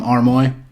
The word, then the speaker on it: Armoy: Is it Armoy right?